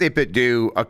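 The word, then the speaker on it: 8BitDo: It's pronounced 8-bit do, I think, according to them. But I don't give a shit. Because it's supposed to sound like Nintendo to me, and that's why I'm going to say 8-bit dough.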